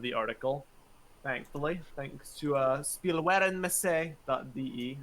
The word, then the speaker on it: Spielwarenmesse: There is an archive of the article, thankfully, thanks to spielwarenmesse.de. I probably butchered that pronunciation. Spielwarenmesse. Thank you.